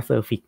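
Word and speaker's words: suffix: พูด ที นะ ครับ ออก เสียง ผิด นะ ครับ อ่า อ่าน ว่า surfix นะ ครับ ไม่ ใช่ sufix เนาะ นี่ นะ ครับ อ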